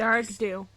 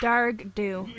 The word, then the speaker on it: Dearg Due: Dearg do. Dearg do. Ah! Ah! Ah! Dearg do.